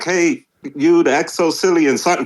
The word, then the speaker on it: XoCillian: Is it just like it's spelled out? It's exactly like it's spelled out. The XoCillian.